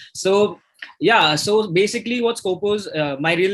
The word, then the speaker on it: Skopos: And I'm guessing I got that name right. Yeah, of course, you got it right. Thank you for pronouncing it right. It's always a pleasure to hear that name in the right fashion, right?